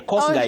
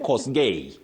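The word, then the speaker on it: Kosgei: And Betty, have you heard somebody saying uh so and so is cog guy. Cos guy, a runna from Kenya. Cos guy instead of cos gay.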